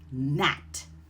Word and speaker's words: gnat: When you see that GN pattern, the G is silent and you're going to pronounce the N sound, like gnome or gnat.